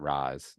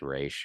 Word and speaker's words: Ra's al Ghul: towards Ra's al Ghul, not Ra's, like Batman Beyond. It's Ra's, but that's okay. It's whatever. That's not a big deal. But it's really not. I'm not being sarcastic. They mispronounce his name, but like, who really cares?